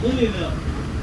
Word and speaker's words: Louisville: So if any of you all say Louisville, you're pronouncing it the correct way, just not the local way.